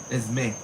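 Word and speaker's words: Esmé: Esme. Esme. That's how you say it. Esme. Not Esme.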